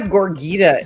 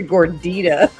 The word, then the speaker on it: gordita: I'm like, it's not a gorgita. It's a gordita. He still calls it a gorgita.